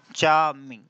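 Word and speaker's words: charming: हो जाएगा मोर चार्मिंग चार्मिंग are silent रहता है ठीक है अगर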